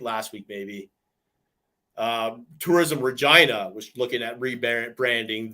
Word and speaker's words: Regina: one was come to Regina the city that rhymes with fun no see that though